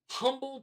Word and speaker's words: Humble: And he's like, it's Humble. I was like, dude. I'm just saying, it spells like another word. H-U is the H is silent.